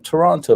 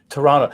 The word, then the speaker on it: Toronto: i got here either toronto that's interesting so you the the second t is silent such like in the